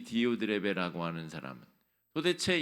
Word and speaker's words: 디오드레베: 이름을 같이 한번 발음해 보실까요? 디오드레베.